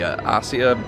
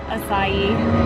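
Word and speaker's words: açaí: there was none of the asia berry bowls i believe that's how you say it isn't it i i just had to look it up so many times how do you say it acai okay they were out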